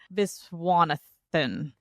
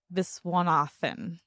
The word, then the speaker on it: Viswanathan: actress, I had to look up how to pronounce her last name, but I love her. I think she's super funny. Gerald Geraldine Visanathan. Okay, now say it again, but it's faster. Geraldine Viswanathan.